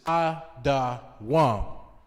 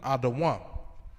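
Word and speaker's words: אֱדוֹם: Which is Adawam. That's how you pronounce it in the Hebrew. Just giving you an English pronunciation of how to pronounce Edom in Hebrew, Adawam.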